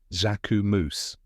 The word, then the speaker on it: Jacquemus: you say it correct pronunciation is zakum moose let's break it down step by step first part is Zach which sounds like Jac in French like the name Jack but with a soft zh sound at the beginning the second part is a moose with a soft and quick ending now say it with